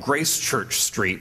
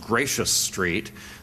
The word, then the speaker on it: Gracechurch Street: And so the Quaker meeting house on what's spelled like Gracechurch Street, but I gather is actually pronounced Gracious Street, was closed.